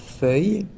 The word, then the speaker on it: Feuille: the name so then the name is quite difficult to pronounce if you don't speak French it's called fui so it means Leaf